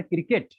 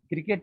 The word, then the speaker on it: क्रिकेट: इसी प्रकार क्रिकेट, क्रिकेट में के को लघु बोला जाता है, मैसेज से को लघु बोला जाता है।